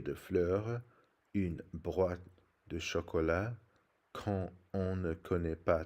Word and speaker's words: chocolat: It's pronounced chocolat with a soft sh sound, and the last S is not pronounced.